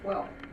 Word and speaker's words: Quehl: by my son's name his name was steven quell and you're pronouncing it quail so that went from